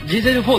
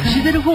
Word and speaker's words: Giselle4: てるそうだから最初僕あのデゼル 4 って横読めなくてああ言われるルがあのネットで調べながらナレーションしたんですよだジーゼル 4 って読むんやて思って